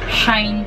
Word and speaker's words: Shein: Shine pala siya. Shine ang pag-pronounce niya.